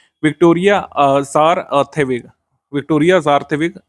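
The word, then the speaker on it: Kjær Theilvig: Miss universe 2024 घोषित की गई है विक्टोरिया ज़ारथेविग, विक्टोरिया ज़ारथेविग या आर्थेविग इनका पूरा नाम है। इनका नाम है विक्टोरिया आर्थेविग, ये सही प्रोनाउंसिएशन होता है हिंदी में, बाकी लिखा ऐसे ही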